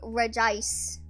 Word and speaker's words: Regice: noises I understand because it's just Regis so it sounds like you'd only say Regice we're just because there isn't a second eye also you can hear